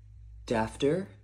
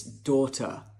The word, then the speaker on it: daughter: Would it be dafter? Uh-uh. Oh, no, it's daughter.